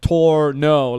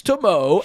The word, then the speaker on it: Tornow: And I'm like, I left him like Loom videos, like Tornow, like I would spell it out Tor and then no, and he's like, got it, Tornow, and I'm like, that's not the thing, dude.